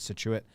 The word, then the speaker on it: Scituate: to see if i yeah that's how you pronounce it he said cool nailed it situate uh rhode island there's a scituate mass as